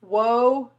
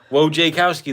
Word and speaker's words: Wojciechowski: Wojcicki. No. Oh. Wojkowski. Wojkowski? Yep. Whoa. We had a whole pronunciation lesson last live. Oh. Wojciechowski, that's it. Wojciechowski, that's what it is.